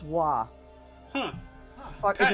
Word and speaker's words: Roy: It's actually, but it's pronounced Wah. Huh. Fuck, Pat- it's just a Qua thing. I think. Patrick Wah! Oh, Yeah, but spelled R-O-Y. huh. I'll be darned. Everyone thinks Patrick Roy, but it's Patrick Wah.